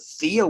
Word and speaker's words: PHEAA: Now in Pennsylvania, it's called the Pennsylvania Higher Education Assistance Authority, PHEAA, pronounced THEA.